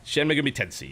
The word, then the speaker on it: Shin Megami Tensei: I don't even know how you pronounce it. Shin Megami Tensei? Shin Megami Tensei, yes.